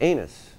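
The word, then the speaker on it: Ainness: I'd gone to Ireland on my honeymoon, and we went to this one town called, well, it's spelled A-I-N-N-E-S-S. And it's pronounced anus.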